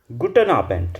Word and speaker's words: Guten Abend: बोलेंगे गुटन न आबेंट गुटन आबेंट लास्ट में डी नजर आ रहा है। अगर लास्ट में डी है तो आप इसको ट ट प्रोनाउंस करते हैं। इंग्लिश वाला टी गुटन आबेंट।